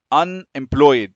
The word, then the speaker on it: unemployed: the e is not pronounced. unemployed تحس ان الاي مش بتتنطق.